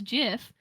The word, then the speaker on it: GIF: and it's like well i pronounced gif as jiff and so emily had